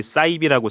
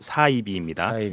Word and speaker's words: 사이비: 이거는 이제 많은 분들이 사이비라고 잘못 발음하시는데 사이비 아니고 사이비입니다. 한자어예요. 한자어. 비슷할 사일 빗자에서 비슷한데 아닌 것.